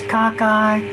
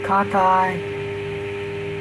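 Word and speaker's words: cocci: spiral or sperilla ah plural for caucus is kakai and you can pronounce that differently um i think i've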